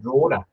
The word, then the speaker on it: Drogheda: Draper did play at Drogheda, which is pronounced Drogheda, apparently, from my chat with Cormac.